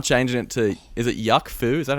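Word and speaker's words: Yuk Foo: And then Wolf Alice, I have Formidable Cool written, but I'm changing it to, is it Yuck Foo? Is that how you pronounce it?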